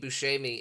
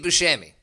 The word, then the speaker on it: Buscemi: on a Saturday Night Live sketch with Steve Buscemi in the People's Court. Who? Okay. There's this sketch from Saturday Night Live. What was the name you said? What? Steve Buscemi? Steve Buscemi. Steve Buscemi?